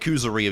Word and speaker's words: Kuzuryu: Yeah, that's how you say it, Kuzuryu. You guys know I'm horrible at the pronunciations.